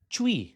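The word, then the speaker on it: Twi: One that stood out to me was chi spelled t wi but you say it chi and in I say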